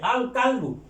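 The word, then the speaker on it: الكلب: এটা কুকুর, আল কালবু, কাফটা হরফুল কামারিয়া, কাজে লামের উচ্চারণ হবে আল কালবু।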